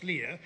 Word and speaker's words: Leia: obi-wan and princess leah the old old dude rebellion guy says princess leah which is like plans provided by princess leia has demonstrated actually i